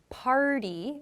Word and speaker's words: party: So in the examples that you included, party, it's like a D sound, and started. So party and started, it's like a D sound. The T sound, the T is not pronounced. Party and started are difficult to say in fast speech. We make the sounds much softer, like a D sound, party and started.